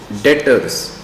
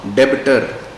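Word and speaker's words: debtors: बाद अगली टर्म पढ़ेंगे डेटर्स इसमें सारे बच्चे याद रखें इसमें बी साइलेंट होता है तो we pronounce it एस डेटर नॉट डेबिटर तो डेटर कौन होता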